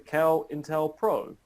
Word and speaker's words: COINTELPRO: We now have a de facto pronunciation of the program. It is the COINTELPRO.